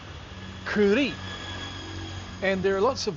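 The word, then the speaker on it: kurī: For example, some people say uh curi for a dog. A dog is a curi. But there is a macron. And so the word is actually kuri.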